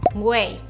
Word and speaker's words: güey: extraños de manera sarcástica se pronuncia como way en inglés mira way salimos hoy ok número